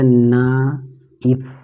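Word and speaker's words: knife: जैसे देखिए KNFI, के को नहीं पढ़ा जाएगा, ना इफ, नाइफ।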